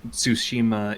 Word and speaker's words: Tsushima: gameplay for Ghost of Tsushima just she hope I'm pronouncing that right fellas what do you think of it well let me speak first is the resident we need Tsushima is the right pronunciation ah thank you and